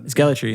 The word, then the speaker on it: Gellaitry: place Sam gallry everybody is that how you say it Sam gallry perfect gallry yeah yeah guys welcome Sam